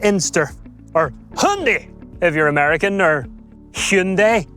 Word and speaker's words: Hyundai: Let me introduce you to the Hyundai Inster or Hyundai if you're American or Hyundai if you want to say it properly cuz apparently you say Hyundai. Here in Northern Ireland, we say hi Hundai.